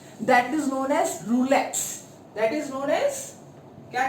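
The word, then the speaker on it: rouleaux: ROU आता है, ये यू है, लेकिन जब आप इसको प्रोनाउंसिएशन करोगे इसका, तो ये क्या हो जाएगा? रूले।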